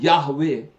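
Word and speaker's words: Yahweh: कि खुदावंद के लिए जो लफ्ज मुस्तअमल है वो याहवे या यहोवा है। दुरुस्त प्रोनाउंसिएशन या तलफ़्फ़ुज़ किसी को भी मालूम नहीं है। हम यहोवा कहते हैं और याहवे भी कहते हैं।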